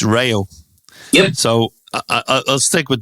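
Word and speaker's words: Reo: He said it's not Rio, as in the Duran Duran song. It's Rayo.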